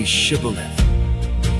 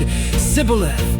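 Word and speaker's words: Shibboleth: If he answered, "No, they told him, please say Shibth." if he said Cibilith because he could not pronounce it correctly.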